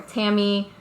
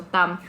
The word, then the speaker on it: Tâm: Tam cuz it sounds enough like Pam or Tammy whatever so I'm always tamle and then moving